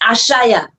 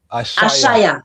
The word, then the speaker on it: Ashaya: Family, if you're watching live, we have I'm pronounce your name for I so I can say it properly. Empress Ashaya. Ashaya.